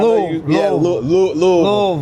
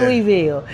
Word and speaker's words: Louisville: It ain't Louisville. It's Louisville. Louisville. You gotta say it like your battery's running low in your mouth.